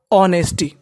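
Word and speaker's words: honesty: ही was known for ऑनेस्टी इसको हम लोग क्या पढ़ ऑनेस्टी यानी एच के बाद अगर हमारा ओ है तो एच को हम साइलेंट मानते हैं ही वाज नोन फॉर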